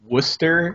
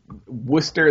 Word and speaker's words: Worcester: That's Massachusetts is the worst for that because like Worcester is not Worcester. There's no like SHs in Worcester.